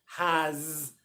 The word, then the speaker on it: has: One, because they don't realize it's a Z sound, but two, because it feels unnatural saying this at the end of words. Is, has.